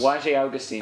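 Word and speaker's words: Błażej Augustyn: I just needed to pronounce his name correctly once. Wajé Augustine.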